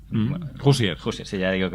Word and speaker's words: Hoosier: Por empezar, por Josier, Bueno, Hoosier. Hoosier, sí, ya digo que mis pronunciaciones...